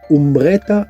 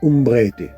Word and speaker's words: Umbrete: Allez, alors déjà on prononce pas umbretta mais umbrete correction faite.